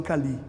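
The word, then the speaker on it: Kali: Pelo menos eles todos, os ciganos que eu conheço, falam Cali. Santa Sara Cali. Eu nunca vi um cigano Pronunciar diferente.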